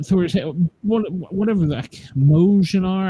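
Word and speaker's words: Mjölnir: The Thor, not Thor's, whatever the Mojnar. I can never pronounce it right. Jolnir, Joel. Is the M silent? Oh, nice one.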